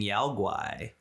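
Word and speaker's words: Yao Guai: Hey, so we got a rampaging Yao-Guai. Okay, that is how you pronounce it. Yes. All right. It's a Yao-Guai.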